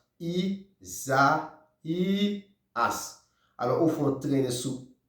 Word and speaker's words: Isaías: Alors c'est I-S-A I com acento agudo, A-S. Leve com ça, I-S-A-I. Accent aigu, A-S. Le prononcer comme ça, Isaías.